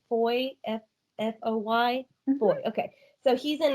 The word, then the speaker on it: Foy: I'm not sure if I'm pronouncing his name right. Am I saying it right? Foy, F-O-Y?